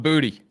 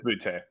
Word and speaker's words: Butte: That's Keyshawn Butte, or however you say his name. Nestler was calling him Booty. Booty, Bowdy, whatever. God, there's so many Booty guys. I think it's Butte. Yeah, Butte.